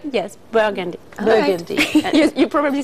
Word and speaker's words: Burgundy: from burgundy did i say it right yes burgundy burgundy you probably said it better than i